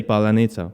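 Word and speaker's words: паляниця: of our words really we have a specific word uh it's palineza that means um it's like pancake okay they can't pronounce it i gotta remember that word that's the way we recognize that person is russian say palanitsa that's what we say there's a lot of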